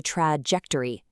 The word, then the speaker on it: trajectory: The trap is pronouncing the J cleanly. Say trajectory.